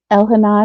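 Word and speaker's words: Elhanan: so and then my last name is elena but it's spelled e-l-h-a-n-a-n so let me write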